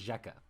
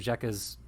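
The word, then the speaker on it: Xekka: set this is zheka zekka x-e-k-k-a i think it's pronounced jeka void scion uh for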